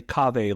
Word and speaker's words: Kaveh: So I say Kaveh like agave. Yeah. You say you have a little softer kava like agave. I say it like agave.